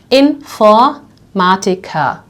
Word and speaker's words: Informatiker: So we had this word over here, Informatiker, computer scientist, Informatiker, right? So the word ends on the R, which we will pronounce like an A, right?